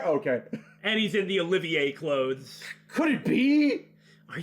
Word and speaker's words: Olivier: have you take care to say my name properly i am the drifting poet and seeker of love olivier oh he sounds good